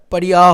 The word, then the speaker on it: Pariah: পারিহা খুব ভালো কিছু হোক, এটাই চাইবো। মানে পারিহা বলা উচিত কিনা জানি না, উচ্চারণটা পারিয়া হওয়া উচিত, পারিয়া বা পারিহা।